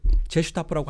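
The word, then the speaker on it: Gestapo: 근데 이 게슈타포가, 자, 프랑스에서는 이 G를, 게슈타포로 시작하는 이 G를 제라고 발음하죠. 제. 특별한 경우가 아니라면 U하고 E하고 함께 쓰는 경우가 아니라면 개가 아니라 제로 발음해요. 그러니까 프랑스어에서는 게슈타포라고 안 하고 제슈타포라고 할 수도 있는 거예요.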